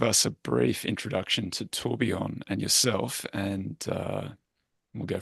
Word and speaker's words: Tourbillon: Do you want to give us the authentic French version of Yeah, we'll go with tourbillon.